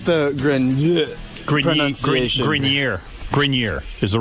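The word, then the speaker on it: Adrian Grenier: It's actually Grineer. Adrien Grineer.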